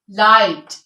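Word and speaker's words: light: common use में है के एच से पहले और आई के बाद जो अक्षर जी होता है वो साइलेंट होता है लाइट माइट साइट राइट इन सब में जी साइलेंट है ठीक है इसके बाद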